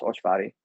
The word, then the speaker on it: Olcsvary: It's Olcsvary, and it's pronounced Olcsvary.